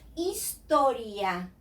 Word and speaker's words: historia: H is totally dumb in Spanish. It doesn't matter where it is. If it is at the beginning, in the middle of the word, it never sounds. So this word, for example, in English is history. In Spanish is historia. This word that is pillow, in Spanish is almohada. So the H is as if it isn't there. It disappears.